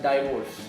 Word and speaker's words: divorce: will call it as divorce it sounds like diverse you know yeah diverse diverse yeah divorce it's so basically because d i is there the word the letter d i yeah we tend to say it like i die you know like divergent